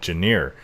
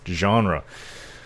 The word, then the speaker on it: genre: Genre. It looks like Janier to me, so I was always saying it. Janier. It's this Janier of gaming. It's genre.